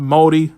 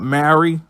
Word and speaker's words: Māori: That a lot of the inspiration was from Māori people, and yes, it's pronounced Māori, not Maori.